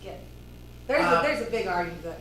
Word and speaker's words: GIF: I've heard it pronounced different ways, but It's GIF, That's a GIF, meme. GIF. GIF, The because creator says GIF. the Logic G says is, GIF. the G stands for graphics, so it's G, it's graphics, it's GIF.